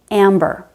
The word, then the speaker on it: amber: For example, amber. The M is at the end of the first syllable, and the B is at the beginning of the second syllable.